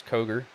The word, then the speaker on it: Koger: As I keep on wanting to say Kroger because that is a local grocery store near me. I'm glad I don't say Kroger and it's Koger. Still saying it wrong, knowing how I am.